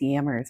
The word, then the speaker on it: jammers: That is why I call jammers yammers, by the way. It's because it's the Dutch pronunciation.